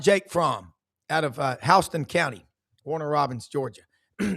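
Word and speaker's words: Houston: He could not beat out Jake from out of uh Hston County, Warner Robbins, Georgia. They pronounce it Hston for whatever reason over there.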